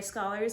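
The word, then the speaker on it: Scaller: there is a main narrative which is january scholars narrative which i found out her last name is pronounced scholar and then there's the ten thousand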